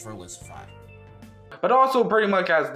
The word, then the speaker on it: Verlisify: this Valvency is, well, he was actually trying to say Verlisify, but he pronounced it wrong.